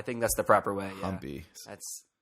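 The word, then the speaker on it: Hampi: was yeah I wasn't humpy when we left off is that how you pronounce it humpy or I think that's the proper way humpy that's that's how I've heard locals pronounce it Dy noted and long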